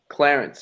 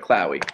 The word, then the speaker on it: Chlowie: know that that's right they say my name's Clarence every day my name is Chloe Chloe I don't appreciate it